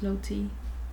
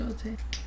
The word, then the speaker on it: Lotte: her name is Charlotte, it's actually pronounced Lottie too. Lotte, I think it was Lotte.